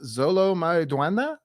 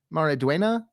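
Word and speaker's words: Xolo Maridueña: But I think this guy's name is pronounced Zolo Mariduena. Mariduena. I think Mariduena.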